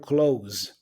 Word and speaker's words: close: the S sound basic now words in English that have the S sound but there are verbs tend to be pronounced with a z sound so for example the verb close you see you close the door that's a verb so the ass there should have the sound of Z you close the door